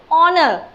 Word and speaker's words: honor: Like honor, this is not, this word doesn't start with any vowel letter, but it is sound, it sounds as vowel.